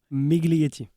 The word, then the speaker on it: Miglietti: Migly.